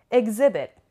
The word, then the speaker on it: exhibit: And the stress is on the on this syllable. Exhibit. On the second syllable.